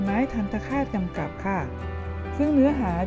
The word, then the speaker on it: ทัณฑฆาต: ตาม ครู นะ คะ ทัณฑฆาต อ่าน ว่า ทัณฑฆาต เรา มา ดู ความ